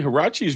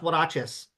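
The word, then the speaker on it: huaraches: Hachis were like Mexican sandals. Yeah, they're w they're it's pronounced waches.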